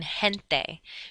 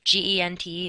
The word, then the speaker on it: gente: If G, E, or G, I is in a combination together, then it's pronounced like the letter H, like in gente. Gente is gente, which means people.